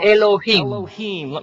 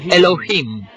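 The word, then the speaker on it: אלוהים: Se pronuncia Elohim. Repitan Elohim.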